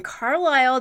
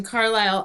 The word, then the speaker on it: Carlisle: a weird thing about the name carlisle i don't like the way it looks because of the s yes exactly it has a silent s in there so sorry silence i'm